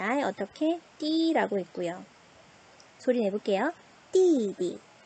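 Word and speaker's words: 弟弟: 띠디, 띠디, 빠바, 띠디.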